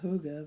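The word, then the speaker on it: hygge: you know who got hyg GE which doesn't look like hoga but I guess that's how you say it oh my god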